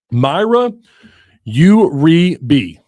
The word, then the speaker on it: Mayra Uribe: Mayra Uribe. That's right. it. I got it. I pronounced it wrong on this show a couple of times, but not you boo-boo though, right?